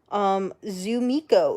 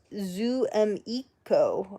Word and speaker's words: Zumiko: Zumiko. It's pronounced Zoomiko. Oh, sorry, Zoomiko.